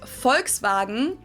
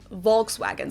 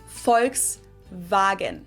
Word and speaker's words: Volkswagen: But even if we did go by the full name, it would be pronounced Volkswagen and not Volkswagen. So just imagine that it was spelled with an F and V instead. Volkswagen.